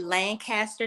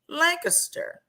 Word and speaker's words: Lancaster: from the DFW area you grew up hearing it being pronounced Lancaster if you're from Lancaster Pennsylvania or Lancaster California you guys cringe when we say Lancaster well sorry that's how